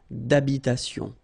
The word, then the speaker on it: habitation: Remember, H doesn't exist in French, well, in most of the cases. So it does mean that you don't pronounce it. All right, so d'habitation. Une tour d'habitation.